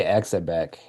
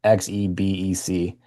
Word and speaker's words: Xebec: It's by Exabec. Or however you say it, Exabec or whatever. I don't know how to say it, but it's by them. You can just search them. It's Xebec, and just do like tri-screen, and it'll come up.